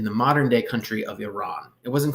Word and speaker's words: Iran: their start in the modern day country of Iran it wasn't called Iran back then by the way I'm going to call it Iran you don't have to but you'll sound less